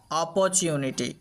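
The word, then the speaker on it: opportunity: নি টি ওয়াই টি টি আবারো একবার শোনো অ পু নি অপরচুনিটি অপরচুনিটি এটা আমরা আরো একভাবে উচ্চারণ করতে পারি অপরচুনিটি এভাবে তো চল আমরা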